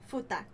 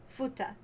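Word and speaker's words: 二口女: Futakuchi Onna. Did you say Buta or Futa? Futa. Futa.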